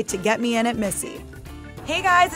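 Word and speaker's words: Misi: After the success of her first solo venture, Lilia, an Italian restaurant in Brooklyn, she recently opened Missy, pronounced like her name, but spelled differently.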